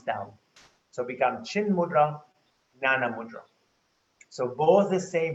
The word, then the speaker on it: jnana: Then the same mudra, if you want to turn it upward, becomes a jnana mudra or yanana mudra. So the J can sometimes pronounce as a Y, yanana mudra.